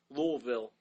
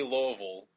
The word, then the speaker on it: Louisville: think you know what's the funniest thing yeah Louisville locals say Louisville and I've been there so many times it's